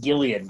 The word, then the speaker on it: Gillian: yeah i think it's alien right it is pronounced gillian which is weird mm-hmm uh yeah so uh